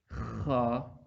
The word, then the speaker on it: خ: This Ha is pronouncing from the middle throat, and this Kha is pronouncing from the upper throat.